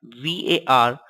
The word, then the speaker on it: VARCHAR: Variable character, denoted as VARCHAR and pronounced as varchar.